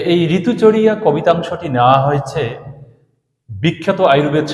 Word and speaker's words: ঋতুচর্যা: হয়তো অনেকে ভাবছো যে এটা তো ঋতুচর্যা এটাকে আবার ঋতুচরিয়া এরকম উচ্চারণ হচ্ছে কেন ঋতুচর্যাটা কিন্তু বাংলা উচ্চারণ আর সংস্কৃত উচ্চারণ হলো ঋতু চরিয়া তো এই যে ঋতুচরিয়া